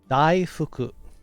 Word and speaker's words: daifuku: No, that's not how it's pronounced, Pepper. Daifuku.